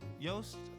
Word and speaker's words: Yost: Yost rhymes with boast, and that's what he liked to do.